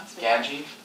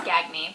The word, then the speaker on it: Gagne: it you spelled my you pronounced my last name wrong gji it's G it's gagy gagy all right I've all